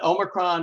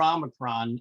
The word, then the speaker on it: Omicron: to say that we are both okay uh omicron or omikron uh and we'll be talking the bulk of